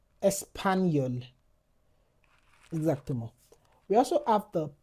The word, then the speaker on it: espagnol: For example, chat chat chapeau exactement We also have the J N It sounds like ni. For example, espagnol. espagnol Exactement.